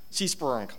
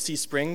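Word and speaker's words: CSPRNG: pseudo-random number generator or more properly pronounced see sprung some people will tell you it's see spring but I don't see an i there see spurned so do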